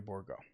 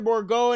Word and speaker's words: Bourgault: The third best prospect in the Edmonton Oilers organization, Xavier Bourgault.